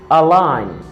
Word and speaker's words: align: Align.